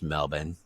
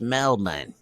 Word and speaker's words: Melbourne: uh is this there's melbourne melbourne one of my aussie friends taught me how to say it not melbourne melbourne it's mel-min all right so uh